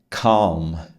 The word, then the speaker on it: calm: Esse L da palavra calm, não é? Você não vai ler ele, tá? Ele não aparece na pronúncia, só na escrita. Não fale calme, cal.